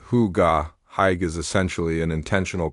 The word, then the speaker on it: hygge: Specifically, the celebrated philosophy of Hyg pronounced huga.